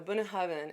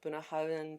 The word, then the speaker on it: Bunnahabhain: Now, Bunnahabhain, and I hope I'm pronouncing that correctly, that's how I was taught to pronounce it. Bunnahabhain, Bunnahabhain, Bunnahabhain.